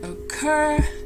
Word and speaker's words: occur: And then occur, again, quite a few problems with that word because the general tendency is not to pronounce it with the stress on the second syllable, and that's where it needs to be.